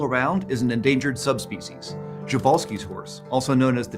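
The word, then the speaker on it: Przewalski: horse that's still around is an endangered subspecies jovalski's horse also known as the Taki or Mongolian Wild Horse and I'm pronouncing it that way because that's also David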